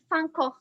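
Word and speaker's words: Van Gogh: uh if you know van gaal or what or in the dutch they say it like funko who is a painter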